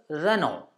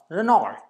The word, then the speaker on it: Renault: Next one is Renault and not Renault.